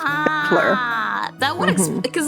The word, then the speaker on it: Battler: Batora is made up of the characters for fight and person, and it's pronounced Battler.